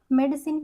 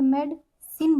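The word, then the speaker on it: medicine: मेडिसिन, यहाँ पे हमारा आई साइलेंट होता है, यहाँ पे मेड सिन बोलते हैं हम ऐसे करके, मेड सिन।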